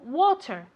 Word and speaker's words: water: Water, como con una O, water.